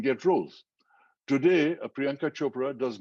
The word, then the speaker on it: Chopra: of all uh because everybody's priyanka chapra chakra it's not chopra it's like if you can say oprah you can say chopra you know it's not